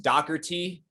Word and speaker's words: Dougherty: last name is pronounced docker t likerty so i guess it's the d-o-u-g-h would come off super harsh like the gh would almost be like a ck but i don't know